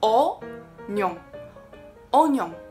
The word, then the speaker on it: oignon: 第三个，洋葱法文是 oignon。我之前给它念错，念错好久，念成 oignon，因为它是 oignon 嘛，我一